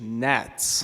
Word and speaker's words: NHATS: Actually, the correct pronunciation is NATS.